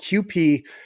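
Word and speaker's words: Kewpie: about somebody with Asian and so it's called QP and it's not spelled QP it's just that's the way it's pronounced I don't don't get me started on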